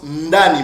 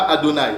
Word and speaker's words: Ndani: Ce nom-là, c'est prononcé, ou se prononce Ndani, mon frère. C'est pas Adonai, ok? C'est Ndani.